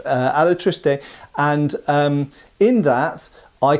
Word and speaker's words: Alatriste: those of you who corrected my pronuncation from alist alatriste and um in that